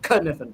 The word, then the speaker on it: Kniffen: James Kniffen, Kniffen. yeah, the K is silent, is actually considering moving to Kansas City because he likes the bowling.